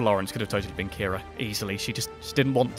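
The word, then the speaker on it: Qi'ra: Despite the strange spelling, it's pronounced like Kira, which was incidentally the original name for Rey from the Star Wars sequels.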